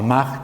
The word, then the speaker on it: Mach: que hay estos autores a ma Quizás lo conocen pu se escribe mach es alemán se escribe mach es